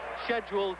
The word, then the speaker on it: schedule: too peaceful for this scheduled 12 rounder uh I apologize for that London pronunciation but that's what they taught me to say at school and Americans call it schedule but I'll try and